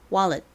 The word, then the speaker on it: wallet: 실제 발음은보다는 wallet wallet 이렇게 wallet에 가깝게 발음이 됩니다.